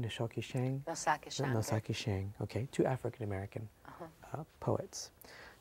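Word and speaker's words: Ntozake Shange: you mentioned Nikki Giovani and how do you pronounce her name nshi Shang Noak Shang noaki Shang okay two African-American uh poets so now the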